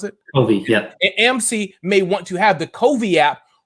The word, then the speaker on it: Covey: AMC could have, and is it Covey to pronounce it? Covey, yeah.